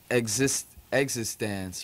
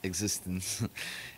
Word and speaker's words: Exisdance: Yeah, well, it's like a lot of people call the band Exisdance or something, and which is not the way it's pronounced. It's properly pronounced Existence.